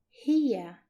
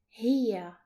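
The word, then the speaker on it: هي: And this is pronounced as hiya, hiya.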